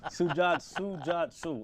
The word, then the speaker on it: Sujatsu: Sujatsu. All right, 3 Sujatsu, syllables. yeah.